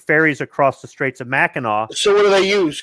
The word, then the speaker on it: Mackinac: It's Mackinac. Mackinac, right. It's spelled two different ways, but it's the Straits of Mackinac, Mackinac Island, Mackinac City, and depending on who writes it out, it's spelled phonetically or it's pronounced differently.